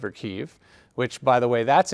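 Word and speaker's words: Kyiv: kiev k-y-i-v uh and the reason is kiev is the russian pronunciation and kiev is the ukrainian so is this a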